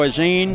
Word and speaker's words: Auzenne: have to push out of am i pronouncing that right is een yes okay well Ray's gonna push